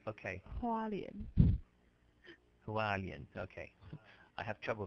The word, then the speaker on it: Hualien: Hualien. Hualien, okay. I have trouble pronouncing it.